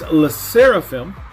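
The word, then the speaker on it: LE SSERAFIM: up for them Alyssa raffian that's a true pronunciation it's less seraphim and uh Texas I love Limelight but technically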